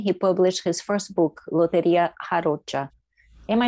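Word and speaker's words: lotería: and in 2013 he published his first book loteria am i saying that right alec you no i like your your pronunciation the brazilian this is the lottery with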